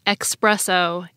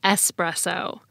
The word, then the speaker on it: espresso: So that may also contribute to people saying espresso instead of espresso.